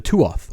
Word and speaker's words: Tuath: The Tuath, or pronounced Tua, it means people or tribe in Old Irish.